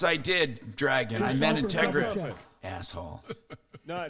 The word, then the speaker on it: Integra: yeah yeah Tom yes it should be Integra not uh yeah that's what I meant